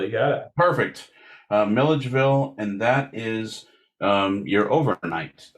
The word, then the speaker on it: Milledgeville: That's Milledgeville. You got it. Perfect. Milledgeville, and that is your overnight town as well.